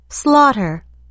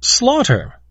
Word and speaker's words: slaughter: 16 slaughter slaughter。